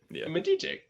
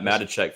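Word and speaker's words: Matichak: say her name I've never known that Andy mate check uh that's a that's an interesting last name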